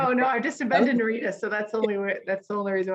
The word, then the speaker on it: Narita: from China, and his transfer flight was through Narita in Tokyo. If I'm pronouncing that Naruta.